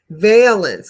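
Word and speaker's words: valence: place to start okay Valance I'm sorry Valance veence a long a is the charge that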